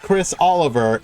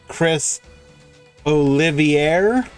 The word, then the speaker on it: Chris Olivier: just a slight correction it's not Chris Oliver it's Chris Olivier am I is that